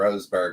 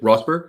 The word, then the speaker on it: Rosberg: races now wow also because you guys mentioned Roseberg earlier his dad was the one that won that year with only one race win it rosberg you said yep y neat very cool he